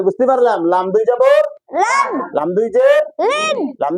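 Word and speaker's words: لام: alhamdulillah, তাহলে জিব্বার agar কিনারা সামনের মাড়ির দাঁতের গোড়ার সঙ্গে লাগাইয়া লাম উচ্চারণ করিতে, এটা লামের মাখরাজ, লামের সিফাত, লামের গুণ, এটা তাই না, স্বভাব।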